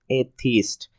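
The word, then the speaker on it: atheist: हमारा पांचवा वर्ड है एथिस्ट। इसका प्रोनाउंसिएशन देख सकते हैं, ए ये स्ट्रेस के साथ हो जाए, थीस्ट स्मूथली अनएक्सेंट वे में, एथिस्ट।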